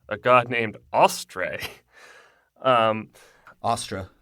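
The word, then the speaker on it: Austre: god named Australia um Austra is how they pronounce say what Astra God of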